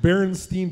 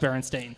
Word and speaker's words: Berenstain: You're like the people who think that Berenstein Bears are pronounced Berenstain. But they are pronounced Berenstain.